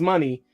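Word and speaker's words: Moné: name on TV nope so they just added a y to what mon they pronounced it money now they just say Mercedes money nope I didn't hear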